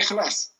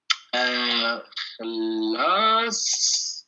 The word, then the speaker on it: خلاص: Par exemple, si vous dites Kaka Jan, Bez Ahmed Chayek, on a dit Kaka, Khalas, Chay Khalas. Le thé est fini. Ok? Vous allez l'entendre. Donc, Khalas, la prononciation, ça serait. Khalas.